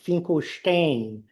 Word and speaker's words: Finkelstein: Finkelstein. Finkelstein. In that family, we we we are led to believe that the name was originally pronounced Finkelestein in the eastern part of Poland.